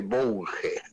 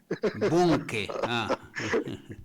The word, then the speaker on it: Bunge: y me retó dice no se dice bunge se dice bunge bunque Bun él sabe hablar alemán